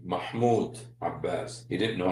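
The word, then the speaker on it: Mahmoud Abbas: I would also like to salute the president of the state of Palestine, Mah Abbas. I find it he didn't know how to say his name, Mahmud Abbas.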